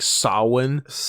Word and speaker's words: Samhain: whatever I hate that it's spelled Samhain but pronounced like Sawan just some some Irish